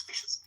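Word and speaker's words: fiscas: Old English, F-I-S-C-A-S, F-I-S-C-E-A-S, bearing in mind that in Old English, SC is pronounced sh. So it was fishers.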